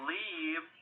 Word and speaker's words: live: El verbo live en presente o lived en pasado se pronuncia con una i.